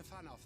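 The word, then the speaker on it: Fanow: Let us return to Fanoff then, and discuss the coming expedition. Did you say fan off? You pronounce that W with an F there, Thancred?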